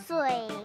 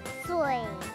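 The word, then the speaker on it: 水: คำ ว่า น้ำ เปล่า ภาษา จีน กลาง ก็ คือ สวย ค่ะ ออก เสียง ตาม หนู นะ คะ สวย สอน พูด กับ ฟัง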